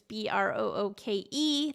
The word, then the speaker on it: Brooke: It's Brooke. There's a little silent E on the end that always gets everyone.